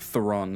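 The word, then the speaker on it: Theron: see Amon and uh like thoron is kind of how it's spelled t h e r o n Fen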